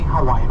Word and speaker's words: Hawaii: Hawaii I said Hawaii so in the Hawaiian language in the Halloween language the abusa always pronounced as a b as a Victor so it's Hawaii but have you know